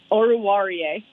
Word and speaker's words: Oruwariye: Oruwariye. Yes, that's the official pronunciation from the StoryLine.